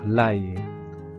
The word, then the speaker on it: ail: Le ici le A I L se prononce a comme dans travail. Ce sont des gousses d'ail. J'adore l'ail.